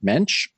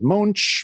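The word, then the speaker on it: Moench: You may have noticed I said Doug Mench, which is very different as to how I pronounced his name all of last season, which was wrong.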